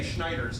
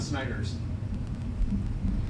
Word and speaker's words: Schneider: Like I say, Schneiders, not Snyders.